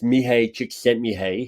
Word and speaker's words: Csikszentmihalyi: So here's how I mispronounce his name. It's Mihai Csikszentmihalyi.